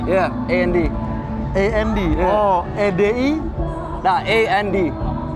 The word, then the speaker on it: AD: Oh, EDI. Nah, AND. E sama D doang. Yeah. Ed dibacanya.